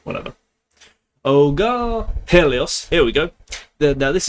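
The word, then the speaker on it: Ἥλιος: tail, and you have there is a small little apostrophe there that indicates there is a H sound before it. This is Helios. Helios.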